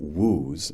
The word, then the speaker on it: Wu: produces a different woolee, each with the same English spelling, and each pronounced in English woo.